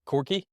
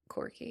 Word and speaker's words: quirky: It's kind of what's it, Corky? Quirky. Corky? Is that the Like word? How do you pronounce that? quirky. Is that how you're saying it? Oh, I was saying Corky. No, it's QUI, I think.